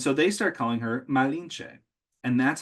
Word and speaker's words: Malinche: And so they start calling her Malinche.